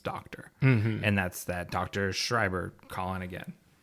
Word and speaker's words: Schreiber: and that's that Dr Schreiber calling again is it Schreiber or Schreiber it's like shrubber she's like there's a